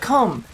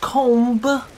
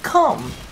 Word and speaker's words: Kohm: Okay, first and foremost, I still think it sounds like Kohm. Not comb, but Kohm. It's like all these jackasses insisting on the pronunciation of Uranus as Uranus.